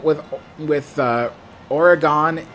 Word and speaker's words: Oregon: word so but yeah Oregon that's uh that's the proper way to say it and believe me I